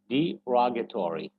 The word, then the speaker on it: derogatory: So it says derogatory, derogatory. So rogatory.